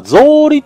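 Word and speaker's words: 草履: あ、草履っていうことか、これ。草履って読むんですね。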